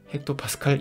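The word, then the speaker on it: hPa: 평균적으로는 1013 헥토파스칼 정도입니다 이때 헥토파스칼 은 헥토파스칼 이라고 읽으며 h 는 100을 나타내는 핵 타라는 말해서 왔습니다 자 그래서 여러분들이 기압의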